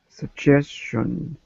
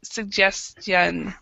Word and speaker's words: suggestion: yeah yeah and it's it's hard because you have the the two G's that have the different sound then you still say the T suggest and then you have the the t o n sound as well so it's a it's like what Shan and suggestion suggestion so okay okay so